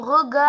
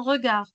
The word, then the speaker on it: regard: son regard son regard son regard son regard on ne prononce pas le d oui reste reste déterminé et plein plein plein plein de courage de courage.